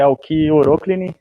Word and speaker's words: Alki Oroklini: flores isso é o a pronúncia correta é alki oroklini todo mundo confunde normal e a gente